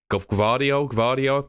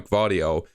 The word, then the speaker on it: Gvardiol: numbers, Laporte's definitely on his way out, but Gvardiol, pretty sure is how you pronounce it.